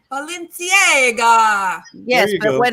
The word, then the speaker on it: Balenciaga: Well, let me say it like the Italians say, Balenciaga.